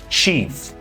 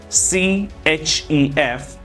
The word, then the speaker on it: chef: next s's hairdresser Chef many people are pronouncing it Chief it is not Chief c h e f it is known as